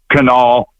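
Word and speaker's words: Kanawha: It's canal. Just ignore the last three letters Rana White, but it's Canal River Canal.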